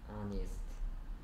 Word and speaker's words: honest: 이거 발음이 뭐야? Honest.